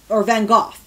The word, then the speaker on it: Van Gogh: Not everyone can be Dali or Picasso or Van Gogh, or Van Gogh. Sorry, I have to pronounce his name right, because you have to cough when you say it. Remember, it's Dutch.